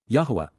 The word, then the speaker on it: Yahowah: information and authorized instruction, Yahowah. Yahowah, the proper pronunciation of the name of Eloah, God as directed in his Torah.